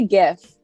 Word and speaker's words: GIF: a make or break i say gif like hard g it is gif it